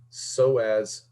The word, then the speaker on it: psoas: so again it's not pus so as just like it wasn't pateragoid the p is silent so as major number seven sits